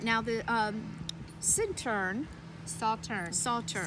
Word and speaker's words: Sauternes: turn soft turn Salter so like its sau ter NES but you pronounce it like putting together s aw like a soft and turn like I mean it's French and if you really want to be French they said Saturn and you never said